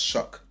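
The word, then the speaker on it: Shough: His name is spelled it's spelled slow but it's pronounced shuck.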